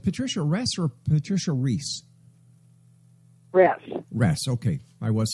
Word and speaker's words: Ress: RESS.